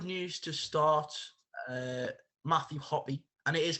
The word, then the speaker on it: Hoppe: automatically uh good news to start uh matthew hoppy and it is pronounced hoppy i was a little bit unsure up until